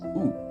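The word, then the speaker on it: ו: How do you say the word and in Hebrew? Well, it's the word ve. But sometimes this ve becomes u. So why and when does this happen? Well, v becomes u in two environments.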